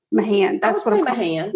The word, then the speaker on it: Mahan: me sad officer no sergeant stephen mahan m-a-h-a-n my hand that's what i'm gonna